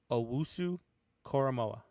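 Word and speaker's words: Owusu-Koramoah: coming up with call you want me to pronounce it for you go ahead owusu coramoa coramoa i was close vanilla wafer but uh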